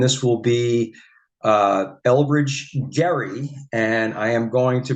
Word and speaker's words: Gerry: will be uh Elbridge Gary and I am going to pronounce it correctly uh it's with a hard G uh it has been